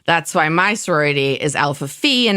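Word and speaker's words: Alpha Phi: has nothing following it the letter is actually pronounced fee that's why my sorority is Alpha Fe and not Alpha fi and I know there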